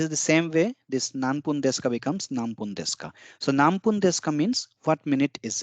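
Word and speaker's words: 何分: will be pronounced as nambun because whenever there is this kind of combination the N becomes m n just like M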